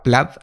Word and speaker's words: Plaid: Plaid, que se pronuncia Plaid realmente, es el software que